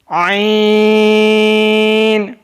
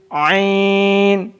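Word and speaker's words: عین: आइन हल्क के दरमियान से अदा होता है। आइन pronounce from the middle part of the throat.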